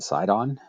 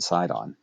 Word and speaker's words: Sidon: And the two principal ones are Tyre and Sidon. I'm using the English spellings and pronunciations of those names. Tyre and Sidon.